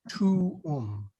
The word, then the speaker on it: tuum: It should be tuum.